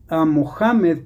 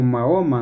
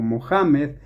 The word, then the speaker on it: Mohamed: Entonces, el arcángel Gabriel le dio estas recitaciones osas a Mohamed, que es el el nombre correcto, como se debe pronunciar, mal dicho Mahoma, ¿no? Sino Mohamed.